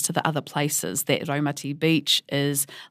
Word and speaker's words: Raumati: ratti and its pronunciation you'll hear me say RTI um sometimes I remind myself that it's roati but um to be honest it's sort of a lifelong habit of saying ratti and it's a little